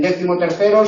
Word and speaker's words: decimotercero: Decimotercero, el acento es C, una palabra llana.